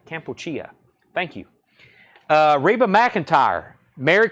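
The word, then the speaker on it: Kampuchea: John Young says it's pronounced Campuchia. Campuchia.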